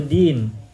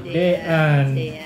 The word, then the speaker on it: Dean: Tadi saya bertanya kepada Bapak Rizky, Pak Rizky mohon maaf saya belum tahu artinya Dean, itu bacanya gimana? Dean atau Din? Dean gitu.